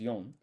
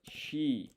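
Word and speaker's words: 四: So, normally 4 is yon. But months of the year, they pick the less popular option. So we're going to put shi instead of yon. And then gatsu.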